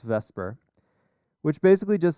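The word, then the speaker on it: VSEPR: three and the shapes come from something called vesper which is spelled backwards the way it's pronounced but it's pronounced vesper which basically just says that electrons repel each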